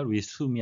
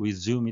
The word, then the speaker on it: resume: 의한 전문직이란 의미가 되겠습니다 Resume 발음에 위해서 되겠는데요 Resume이 아니고 Resume이 되겠습니다 to begin again or